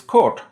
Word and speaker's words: kort: Card is kort, with a retroflex stop.